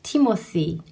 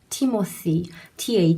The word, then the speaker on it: Timothy: 자의 d 모드에 이름의 영어 이름은 요 티모 쓰이 입니다 티 머 스 2 티 머 스 2 th 발음이 나오고 이렇게 팀 어스 2